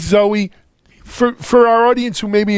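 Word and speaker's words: Zowe: Is it Zoe or Zowie? Zowie is the comic book. Right. Well, no, I'm a David Bowie fan, right? And it's Ziggy. But anyway, it's Zoe.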